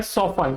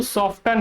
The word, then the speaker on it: soften: Actually इसका जो correct pronunciation होता है वो होता है सोफन। क्या होता है? सोफन। ये जो सॉफ्टन है ये इनकरेक्ट प्रोनाउंसिएशन है।